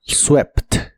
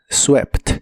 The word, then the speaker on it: swept: un verbo irregular y en esta forma se pronuncia igual que como se lee en español swept swept y en el pasado